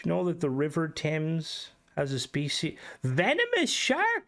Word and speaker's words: Thames: Well, you pronounce it Thames, but it's spelled...